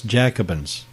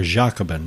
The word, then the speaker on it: Jacobin: Barry Goldwater as Cactus Jacobin or Jacobin is probably a better pronunciation of it in their effort to